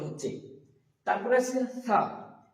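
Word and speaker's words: ث: উপরের দাঁত জীবের আগার উপরে চাপ লেগে তা উচ্চারণ হচ্ছে তারপরে আছে ছা।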